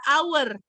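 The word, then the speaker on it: hour: Kalau yang ini, cara bacanya bunyinya adalah our. Our. Vokal atau konsonan? Vokal. Makanya dia pakainya N.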